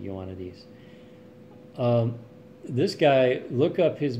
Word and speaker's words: Ioannidis: I'm not sure how to say his last name. I'm saying it Ioannidis.